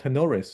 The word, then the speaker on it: Tenoris: Casey um they are from a company called tenores if I pronounce that correctly you got it awesome thank